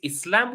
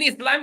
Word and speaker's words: Islam: Islam all right is Islam with s or with Z different people pronounce it differently but in Islam itself we pronounce it with an S not a z but English people prefer